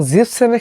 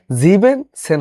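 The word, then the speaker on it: siebzehn: এস বাদ যাবে এবং জিপসনের ক্ষেত্রেও একই এস এন বাদ যাবে জিভেন সেন হবে না জিবেন সেন হবে না শুধু জিপসন হবে আর জ্যাক্স সেন হবে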